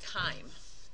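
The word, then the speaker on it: chyme: and the liquid that it forms is called Kim and that's spelled CH yme so when you think of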